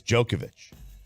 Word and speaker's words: Djokovic: the other one's jokic it's not even a ja it's a yo so I think it's jokovich he wins the french